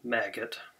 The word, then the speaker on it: Magit: maget or maggot, however you want to pronounce it. I suppose if you love what you're doing, it's pronounced to rhyme with magic. But other times, maggot, I suppose, is more fun to say.